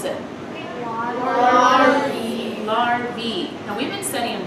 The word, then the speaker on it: larvae: And it's pronounced E, larvae.